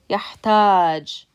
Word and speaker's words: يحتاج: And when you pronounce this, يحتاج, the second syllable has stress because you're pronouncing it longer than you are the first syllable.